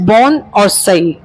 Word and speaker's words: bonsai: Actually बोनसे is pronounced as बोन और सई।